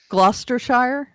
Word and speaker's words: Gloucestershire: they figure out cloud chester glo glauchester shire gloucestershire cluster is that how it's pronounced lobster shire yeah okay let's go we